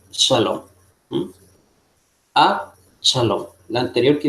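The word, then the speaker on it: שָׁלוֹם: Y ahí tenemos una palabra donde tenemos una Kames Gadol, ¿no?, tipo alarga, en esta palabra conocida por ustedes que se pronuncia Shalom.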